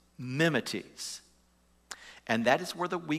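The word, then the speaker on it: μιμηταί: word imitator in verse six the greek is pronounced memetes memetes and that is whether we get the word mimic so paul reminds the thessalonians you became mimeties mimics of us and jesus in other words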